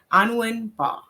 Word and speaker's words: Anwin Mbah: Today's topic is profit pathways, mastering business wealth with, and correct me if I'm wrong with the pronunciation of your name, Anwin Mbah.